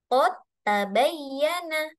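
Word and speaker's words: قد تبين: Jadi bacanya qod qod tabayyana qod tabayyana. Iya minal g.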